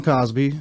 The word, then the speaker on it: Causby: I always had to say my name's Cosby spelled c-a-u-s-b-y no relationship all right all right